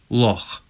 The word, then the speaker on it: loch: CH as in German Bach. For example, loch.